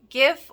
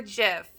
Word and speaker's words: GIF: maroon means come on GIF or GIF apparently I've been saying it wrong I always say it with the G but apparently it's good to know that it's supposed to be with AJ and it was pretty